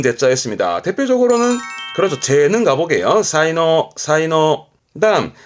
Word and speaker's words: 才能: 사이노 사이노 그다음 그 제주제자 앞에 목변이 들어가게 되면 쓸 만한 나무다 이거죠.